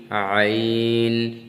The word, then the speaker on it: ع: হ্যাঁ বা, হ্যাঁ বা, হ্যাঁ, জিম, হ্যাঁ, জিম, জিম, দাল, জিম, দাল, মিম, আইন, মিম, আইন। এখানে আইনের উচ্চারণটা প্রেসার দিতে হবে, এখানে আইন, আইন, আইন, সাদ, আইন, সাদ।